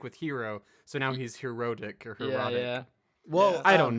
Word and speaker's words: Herotic: No, it's herotic cuz it's with an O. It's H E R O T I C.